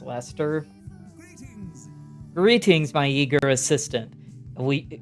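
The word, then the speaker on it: Leicester: Like, I remember at the release of Fire Emblem The Three Houses, people being shocked that Lester is pronounced Lester.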